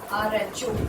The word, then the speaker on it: rho: Pronunciation of this sign is RHO, rho.